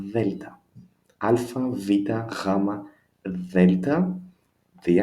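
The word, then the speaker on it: Δέλτα: We can say it's like TH in the word father, father, Delta.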